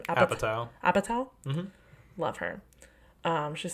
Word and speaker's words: Apatow: Apatow.